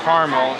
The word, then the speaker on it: Carmel: Caramel is the American pronunciation, and Carmel is a city pronounced with 2 syllables.